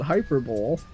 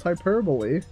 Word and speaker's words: hyperbole: hyperbole I love hyperbole if I didn't know how to pronounce this I'd probably pronounce it hyperb but it's hyperbole oh gosh oh my